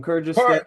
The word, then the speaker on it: Kyrgyzstan: Okay, from Kyrgyzstan. Why are you pronounce Jesus J?